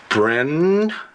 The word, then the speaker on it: Brie: Brie. It's perfect. It rhymes with free, and that's exactly what I want my little girl to be.